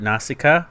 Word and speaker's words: Nausicaa: the standalone blue Wonka I'm gonna butcher at Nausicaa of the valley of you said it right